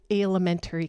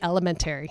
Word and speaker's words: alimentary: That's the stuff that will move it through the alimentary canal. That is the word I mispronounced. I said elementary.